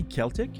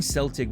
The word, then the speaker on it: Celtic: with a K okay we Irish pronounce it with a K well noted I'll try